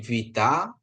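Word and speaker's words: βήτα: Ini alfa ya, ini Vita ya. Jangan sampai kita sebut B ini ya.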